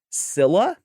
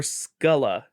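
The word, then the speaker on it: Scylla: I I don't know how to I'm going to give you both pronunciations. Sila or Skulla? Skyla. S C Y L L A. Sil Sila. That's That's how it's phonetically. That's how it's spelled.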